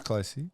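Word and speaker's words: Clohesy: It is Closey. Yeah, it's Closey.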